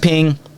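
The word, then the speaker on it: Peng: It's called Ping, but it's spelled P E N G.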